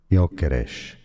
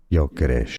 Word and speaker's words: Gyökeres: In Swedish, it's pronounced as Victor Yokesh. Victor Yokesh. Anyway, so Victor Gokesh, Arsenal Football Club.